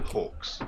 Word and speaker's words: Hawkes: So say that from Buggy Live, Riccardo, Stefano, which is now in Italy and works behind the scene, Oaks, right? Yeah, Hawks. British pronunciation.